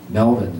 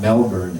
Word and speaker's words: Melbourne: and uh Wooligong and Melbourne. It's not Melbourne, it's Melbourne.